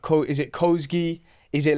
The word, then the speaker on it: Kosgi: They used to call me Kasagi. Okay. I like that as well. Listen. I'm But everyone obviously how you say it is Kosi in it.